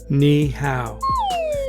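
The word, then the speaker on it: 你好: it's how how MA KN means you think about your knee you know knee but you pronounce how say it with me KN how Okay first two words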